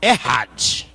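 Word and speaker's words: אחד: Mas certamente os que estão acostumados aí, que conhecem a língua, eles devem pronunciar Errad, né?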